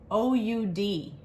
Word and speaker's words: oud: the herbaceous something in this candle that's called o-u-d does anybody know what that is i didn't